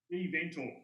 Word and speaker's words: GeVentor: do we pronounce it? GeVentor? GeVentor.